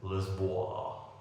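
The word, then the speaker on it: Lisboa: and we are in Lisbon or as the locals pronounce it liso I am near the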